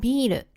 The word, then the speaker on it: ビール: While the "bee" part sounds similar to "ビー" in Japanese, the difference lies in the pronunciation of the"r," which becomes "ル" in Japanese.